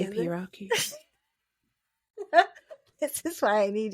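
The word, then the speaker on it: A$AP Rocky: ASAP Rocky. That's the one with the $sign for the S. Is that how you say it? ASAP Rocky.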